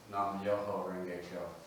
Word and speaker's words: Nam Myoho Renge Kyo: The Japanese pronunciation of the Sanskrit title would be Nam Myoho Renge Kyo.